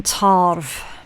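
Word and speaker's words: tarbh: Okay, so with this being one of my Gallic decks, they pronounce the Bull as being Tarv.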